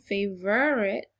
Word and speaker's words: favorite: The syllable makes the ver sound, favorite, but it's not spelled how you might think.